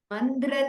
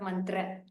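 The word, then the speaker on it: मन्द्र: भवन्मन्त्रतन्त्री स्वरे Susware Bhasware Mandra Tantri Sware. Could you pronounce that again? It's not mantra.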